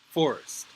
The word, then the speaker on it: Forrest: So this name is actually pronounced Forest.